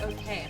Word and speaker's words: Hoquet: In other words, this PH is the signature of Pierre Hoquet. It's probably Hoquet, since that would be French pronunciation.